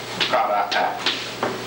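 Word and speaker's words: قرأ: Qara'a. It's the same as the one we gave before, it with Hamza on Alif. See? That's just Hamza on Alif. And Alif is pronounced A. Qara'a. See? Qara'a.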